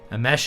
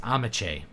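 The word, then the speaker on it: Ameche: to see you again amesh is pronounced amache oh 1930s amach was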